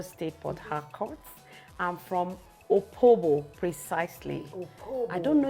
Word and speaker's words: Opobo: Okay, is that the correct pronunciation? Yeah. Opobo. Yes. Not a king of Opobo. No, it's not Opobo. It's Opobo.